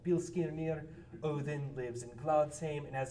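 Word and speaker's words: Óðinn: Uh so you may know him better as Odin, that uh D looking thing right there with a line through it is pronounced uh like a voiced th as in then.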